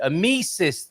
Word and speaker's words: Amicis: Well, my pronunciation was way off. I completely got that wrong, but thank you. Amicis, then we'll go with tonight.